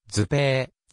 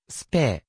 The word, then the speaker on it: Suppé: られるすっでは標準ドイツ語ではずぺーずっぺと読まれるがオーストリアドイツ語ではスペースってと読む win 中央墓地に